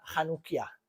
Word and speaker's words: Hanukkah: Y es la lámpara de 9 brazos, y aunque veis una C chiquitita y una H, se pronuncia J. Esta lámpara se llama Hanukkah, ¿vale?